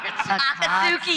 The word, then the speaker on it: Akatsuki: Akatsuki. Akatsuki. Akatsuki. You gotta say the T. You gotta pronounce the T.